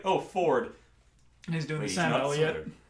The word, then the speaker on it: Fjord: There's one of the players is playing a half orc named Fjord, but he's always pronounced as Ford, and he's got like that the very deep Southern accent. And and he says it Ford, but it's and I'm just like, this is weird.